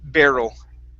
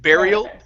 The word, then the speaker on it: barrel: have the word barrel the word is pronounced barrel there yeah instead of burial burial is where you